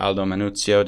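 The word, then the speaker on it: Aldo Manuzio: in the city was one Aldis manuous or Aldo manuo depends on on how you feel like pronouncing it and he was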